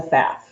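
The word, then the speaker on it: Pfaff: own money was a faff and i know a lot of you guys don't know how to say it but it's p f a f f and that's f the p is silent and i grew up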